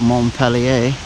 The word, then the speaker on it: Montpelier: here in montar or as the French would call it mon peler how do the locals pronounce it is there any locals pronounce it with that French accent or is it monia for everybody all right you're not